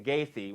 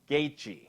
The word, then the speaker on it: Gaethje: It's just like I pronounced it on UFC the other day, Justin Gaethje, when it's Justin Gaethje.